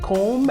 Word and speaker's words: comb: have never understood why the B must be silent in in plumber and and comb and bomb that's what English language